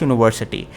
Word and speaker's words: university: Younger brother who taught at dash university who taught at dash university. Right? University. Now let's pronounce with me university.